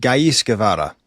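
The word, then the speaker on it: Ghais Guevara: I went with Gis Gavara. Um so, that's spelled G H A I S and then Gavvada like Chay Gavara.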